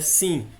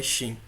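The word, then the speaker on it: ש: é a pronúncia é sim esse esse sinal está funcionando nesta última perna aqui a pronúncia é xem mas eles são a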